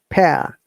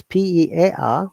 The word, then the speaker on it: pear: Okay, and we sound pear. Though it is spelled as P-E-A-R, but it sounds like pear.